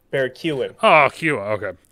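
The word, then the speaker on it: Keoghan: pronounced that way because like you know barry keegan okay barry keegan it's pronounced keown barry kewan oh cute okay it's the same with uh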